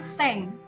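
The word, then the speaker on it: cinq: kemudian angka 5 angka angka 5 ini kita bunyikan dengan seng Ya sepertinya kalau dengan bunyi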